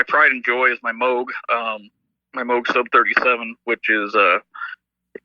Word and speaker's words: Moog: I always mispronounce it Moog. Yeah, I did too for a long time. And then I got corrected when I went to the factory. They're like, no, it's Moog.